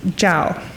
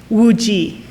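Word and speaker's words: Zhao Wuji: In Mandarin, Zao's family name is pronounced Zhao, and his given name, Wu-Ji.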